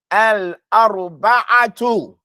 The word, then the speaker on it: الأربعة: Say arba'atu. La. You're all after me. Al-arba'atu.